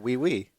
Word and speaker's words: oui: Is that how O-U-I, is that we? Yeah, we.